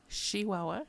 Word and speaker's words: Chihuahua: Northern State of chihuaha Chihuahua a true person from Chihuahua pronounces it with an sh not a CH and uh he was